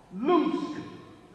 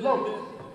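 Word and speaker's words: Loosk: Loose. Los. Okay, see what I tell you? L-O-O-S-K. You pronounce it. Los.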